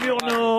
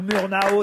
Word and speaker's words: Murnau: C'est Murnau ou Murnau si vous voulez FW. Si vous voulez le prononcer effectivement en français ou à l'américaine, mais au départ c'est Friedrich Wilhelm Murnau, FW Murnau.